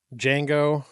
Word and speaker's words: Django: Um, Django Unchained. It's with the the D is silent.